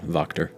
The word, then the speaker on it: Wachter: It's with the W, but pronounced with a V. Yeah, Wachter.